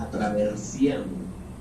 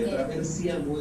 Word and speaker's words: attraversiamo: Y cuando ella estaba en Italia, ella descubre una palabra que es muy rica en pronunciación italiana, que se llama attraversiamo. Y attraversiamo es una palabra en italiano que tiene todas las vocales menos la U.